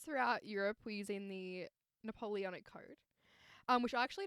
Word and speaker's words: Napoleonic: that basically prevented women how do you say it no i was like very are you like napoleon i was like what's this and you're like napoleonic code napoleonic so i actually didn't